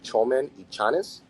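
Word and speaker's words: Txomin Etxaniz: But TX is pronounced cha, right? Cha. So with the language out of Basque, the Euskara language, TX is cha. So this particular producer would be Chomen y Chanes.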